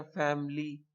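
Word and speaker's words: family: इसी तरह फैमिली हम बोलते हैं फैमिली, फैमिली नहीं कहेंगे, वहां पे भी आई साइलेंट है।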